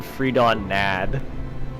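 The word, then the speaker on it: Freedon Nadd: I'd assumed that we were mispronouncing it this whole time, but he's actually literally called Freedon Nad.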